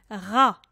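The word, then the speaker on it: را: qu'on mette la particule ra ra ra comme tu prononces comme un air français hra c est une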